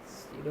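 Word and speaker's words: pseudo: लिखिए सीडो force, लिखिए frame of reference, सीडो force डालिए हेडिंग, सीडो फोर्स। स्पेलिंग लिखा है भैया, देख लीजिए। ये साइलेंट रहता है।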